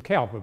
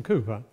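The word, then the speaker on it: Cowper: know about William Cooper when you were young you pronounced it William cper but of course none of you would do that now it's William Cooper wrote those beautiful hymns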